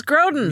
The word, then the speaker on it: Grodin: Last name rhymes with Hoden. Charles Grodin.